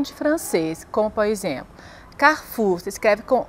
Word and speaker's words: Carrefour: aprender a falar francês você conhece essas palavras carrefur Paco rabani jampo goutier brigit Bardot são nomes